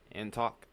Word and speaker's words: Antioch: Antok. All right, thank you for the correction because I never get that one right. Antok. That sounds like it makes more sense. Antioch.